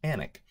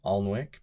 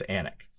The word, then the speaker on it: Alnwick: a river called the river all which they pronounce the L but their city and the castle they call anak so that's where i'll be and if you read that on the internet don't pronounce it on WIC because people from there and eventually me will